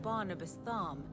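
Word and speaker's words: Barnabas Tharmr: the bloody conquest of barnabastham the dominant of Odin well the last R is silent Farm where so ever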